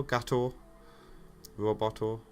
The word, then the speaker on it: Gatto Roboto: That's how it's spelled, isn't it? I think it's actually one T though. Gatto Roboto.